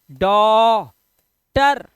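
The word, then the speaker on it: daughter: ये हो गया देखो डॉ टर जी एच को साइलेंट रखना है जब भी जी एचटी आता है किसी वर्ड के अंदर तो जी एच साइलेंट होता है ट पढ़ देते हैं उसको ठीक है जब भी किसी वर्ड में आपको जी एच और टी एक साथ दिखाई दे तो जी एच को मत पढ़ना सिर्फ इसको पूरे को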